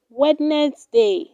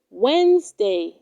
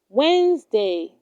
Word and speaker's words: Wednesday: do not say wednesday it is pronounced wednesday wednesday tom's brother goes to the store next wednesday